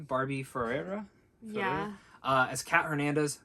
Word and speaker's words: Barbie Ferreira: and yep you got it right there and barbie ferreira is that how you'd say her name barbie ferreira yeah uh as kat hernandez fantastic great performance